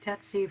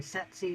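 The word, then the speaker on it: tsetse: disease to humans is the titsy fly also can be pronounced tetsy fly or set c fly and the disease ranges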